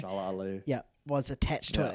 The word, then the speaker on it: Mahershala Ali: Mahershala Ali.